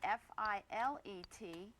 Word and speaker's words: filet: If you're speaking about meat cookery, the French word F-I-L-E-T, it's pronounced filet, and that's the proper way to talk about a fillet of beef.